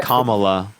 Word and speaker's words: Kamala: come Kamala Harris okay kamla Kam give me a break really you could just say comma okay there's a lot